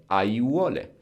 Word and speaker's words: aiuole: but it's just an example that when we have four vowels, A, I, U, O, close together, we just pronounce each and every one of them. Aiuole.